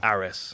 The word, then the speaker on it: Ares: Ares. I always say it wrong.